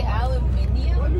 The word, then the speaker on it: aluminium: I never knew this, but I guess North Americans and Europeans spell and pronounce aluminum differently. You say aluminium, but you're adding an I.